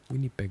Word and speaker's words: Winnipeg: Winnipeg, Manitoba.